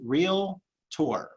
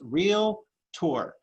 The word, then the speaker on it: Realtor: to say it right the word is two syllables real tour two syllables real tour there is no vowel in the middle here this is that